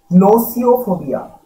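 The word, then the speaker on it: gnosiophobia: নোসিওফোবিয়া, পরের উচ্চারণটা দেখো, জিটা সাইলেন্ট থাকবে, জি এন ও এস আই ও পি এইচ ও বি আই এ।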